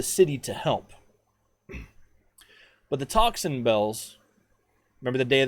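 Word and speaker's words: tocsin: bells started sounding and that word toxin bells gets said a lot in history podcasts and history documentation but it's not spelled how you think it's spelled it's not t-o-x-i-n it's t-o-c-s-i-n and it doesn't mean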